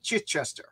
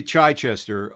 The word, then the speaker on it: Chichester: to John's longbox we're here live with chitester how hello John hello I'm great it's it's actually chiester um yes yes that's my thing I mispronounced